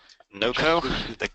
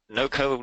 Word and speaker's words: Knoco: called knco or KOCO NOCO the K is silent as as in knowledge okay and is it where where does the name come from it's no NOCO knowledge company uh it's